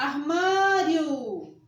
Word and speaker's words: armário: express que não tá o armário armário marseba tônica ma ah e não armar iofd beleza então essa